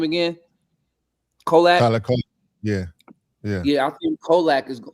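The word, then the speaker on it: Kolek: Kolak.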